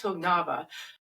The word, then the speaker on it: Högnabba: I'm talking today to Hognaba whose name I've just learned to say and